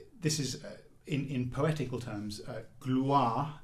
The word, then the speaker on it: gloire: This is, in poetical terms, gloire, the first syllable, is very strong because it precedes this r sound. And the r sound itself falls away, but is very clear.